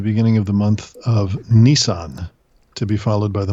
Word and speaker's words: Nisan: of the month of Nisan to be followed by the month of Toyota no but it's it's pronounced exactly the same as the Japanese car of the month of